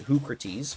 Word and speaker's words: Hoocrates: And by the way, yes, I did pronounce it Hoocrates, because it's supposed to be a play on Socrates, I would imagine.